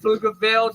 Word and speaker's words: Pflugerville: When I say Pflugerville, the P is silent.